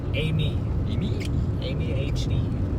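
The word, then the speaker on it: Aimee: Amy Amy Amy Amy HD.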